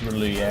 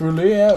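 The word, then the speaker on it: R'lyeh: I think it's pronounced Ruya. Anyway, I always pronounce it Ruya. I don't know if it's Rua or or like Rier or whatever, but yeah, Ruya was how I pronounced it.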